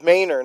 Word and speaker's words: Manor: So, oh, it's Mayor, not Manor either.